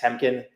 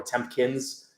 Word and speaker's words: Temkin: Temkin, Temkin. And literally people still can't pronounce my name. They always add a P in the middle or a S at the end. Temkin, or Tempkins.